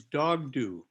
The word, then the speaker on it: Dokdo: And so And that's under the new Mungyobo system, the correct pronunciation is Dogdo for that island.